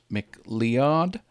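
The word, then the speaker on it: MacLeod: this is Kevin Mick I mean how I pronounce his name Mick liad L e OD he is all over the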